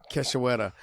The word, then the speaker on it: Cachoeira: Priscilla Cachoeira.